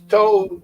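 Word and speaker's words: To'oTo'o: But 5th round, 144, linebacker out of Alabama, whose name I love to say, Henry Toto. Toto. Well, actually, it's Toto.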